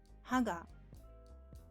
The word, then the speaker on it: 歯: Ha, which means tooth, has higher pitch than the following particle, so it's pronounced haga.